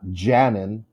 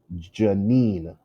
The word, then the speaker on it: Janine: is not the case her name is janine so the it's not janet or jainan it's janine second syllable is stressed okay this this applies